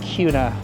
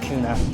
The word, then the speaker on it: Kuna: Let me let you know before you get here, it's called Kuna, not Kuna.